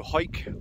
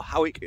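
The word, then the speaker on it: Hawick: This one here leads to Hoik, or Howick, however you want to pronounce it.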